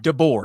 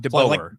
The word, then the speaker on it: DeBoer: It's DeBoer. DeBoer, not DeBoer. Think of like a boar, like an animal.